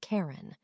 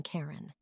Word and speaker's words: Charon: But as he wanted to dedicate the discovery of the moon to his wife, Charlene, he pronounced it as Charon, rather than Charon.